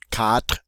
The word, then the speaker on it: quatre: And again, remember that quatre ends on an R sound. We don't say quatre. All right? And make sure it's a true R.